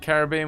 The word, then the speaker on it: Caribbean: have no idea where the pennies is it Caribbean with equal stress on the syllable of Kerry paws and bean yep oh I say Caribbean but I think a lot of people especially